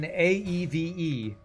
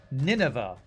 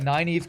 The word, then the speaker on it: Nynaeve: in Wheel of Time, there's a character named Nynaeve, and I always thought it was Nineveh.